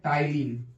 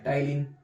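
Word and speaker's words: ptyalin: Salivary amylase का दूसरा नाम क्या हुआ, तो अल्फा एमाइलेज नाम होगा, या इसी का थर्ड नेम है टाइलिन, PTYLIN, इसमें P साइलेंट है, इसका नाम है टाइलिन।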